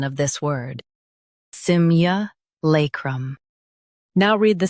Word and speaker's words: simulacrum: Both US and UK have the same pronunciation of this word, SIMULACRUM. Now read the syllables shown on the screen naturally. Sim, lay, crumb. SIMULACRUM. Emphasize lay and soften crum.